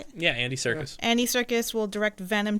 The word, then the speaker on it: Andy Serkis: Yeah, Andy Serkis.